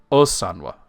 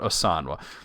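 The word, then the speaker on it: ósanwe: See, we just talked about pronunciations, but it's Osanwa, not Osanwa, because there's an accent over the O that gives an exception to the way that Elvish is usually said.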